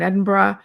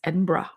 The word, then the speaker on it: Edinburgh: and Us afternoon tea at the Balmoral in Edinburgh and some other things.